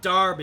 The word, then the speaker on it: Derby: Yeah, something to realize, it's pronounced Darby, but spelled as Derby.